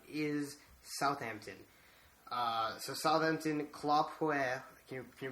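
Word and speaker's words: Claude Puel: Uh, so Southampton Claw Po. Can you can you pronounce that? Sorry, it's French, so I'll let you. It's just Claude Pool.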